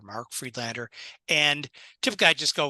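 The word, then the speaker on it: Friedlander: make sure I got that right yeah it's Fred Lander I'll spell it for you m a r k f r i e d l a n d e r Mark freedlander and typically I just go with spokesman insurance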